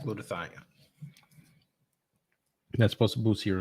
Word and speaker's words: glutathione: Someone told me yesterday about, I forgot how to pronounce it, glutamethone. I don't know. I don't remember how to spell it. Hang on. I'll spell it for you right now. G-U-T-H. Like glutathione. Right, glutathione.